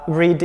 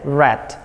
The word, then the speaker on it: read: Kata read ini, dia penulisannya sama, tetapi pengucapannya berbeda. Read, read, seperti membaca warna merah dalam bahasa Inggris ya, red and red.